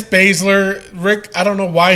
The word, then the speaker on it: Baszler: Yeah, it's Baszler.